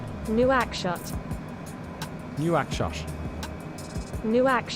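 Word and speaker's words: Nouakchott: pronounce it nope Chuck okay and it is pronounced new ax shot new ax shot new ax shot right she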